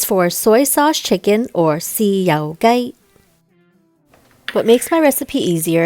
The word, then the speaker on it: 豉油雞: 豉油雞。雞。豉油。豉油。雞。雞。豉油雞。豉油雞。 That's right, it's for soy sauce chicken or 豉油雞.